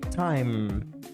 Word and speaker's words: time: primeira palavra time time time significa tempo ou vez Note que na pronuncia nós não falamos a letra e no final isso acontece com muita